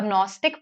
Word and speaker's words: Gnostic: A Gnostic person says, see, I know that God exists. See, this GNO here in Gnostic, agnostic, it means to know. It is pronounced as no only.